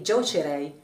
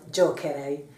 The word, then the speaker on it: giocherei: Otherwise it would be giocerei instead of giocherei.